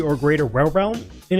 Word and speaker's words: Wirbel: Sims says it's probably written Vibel because that's how Wirbel is pronounced in Japan.